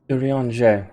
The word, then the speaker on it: Urianger: Urianger. It is right. Okay. That's how I pronounce his name.